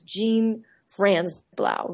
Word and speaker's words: Jean Franzblau: or yes yes people because I spell it like a pair of pants J A an some people in Europe will think that I'm a man because it looks like a very French name France BL but it's actually how I pronounce it as Jean Fran Blau very American sounding okay cool good and